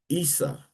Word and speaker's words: Isa: That's why when Muslims and Arabs say Jesus, they say ISSA and they say Isa, all right?